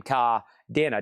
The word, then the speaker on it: Cadena: How do you say your last name? Ka Denna.